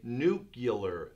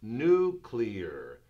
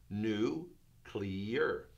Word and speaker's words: nuclear: word where I'll say nucular nucular but it's not it's nuclear nuclear nuclear new clear nuclear so we'll say the